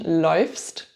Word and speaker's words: läufst: Unusual pronunciation, läufst.